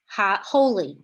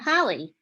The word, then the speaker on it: holy: So this one is holy, not holly. Why is it holy? This is open.